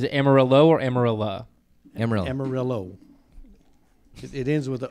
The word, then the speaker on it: Amarillo: Amarillo.